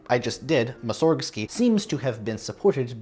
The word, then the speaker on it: Mussorgsky: based wordplay I mean following exactly correct Russian pronunciation rules you could still say it as musorgsky no one really says that anymore you put the emphasis on the wrong syllable in any event this